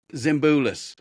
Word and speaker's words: Zimbulis: And did I pronounce that right? Zimbulis, right? Very close. So. All right. Greg, I'm Zimbulis.